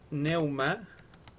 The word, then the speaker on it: pneuma: En griego, neuma, que es lo que se traduce como aliento, espíritu, se escribe con P, pneuma.